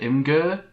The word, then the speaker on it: Imgur: I never know how to pronounce this website. It's that IMGUR. Is it Imgur? Yeah, it's Imgur. Yeah, I think that's pretty much how you pronounce it.